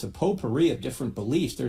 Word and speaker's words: potpourri: The T is silent in potpourri. Potpourri. Because it's French, right?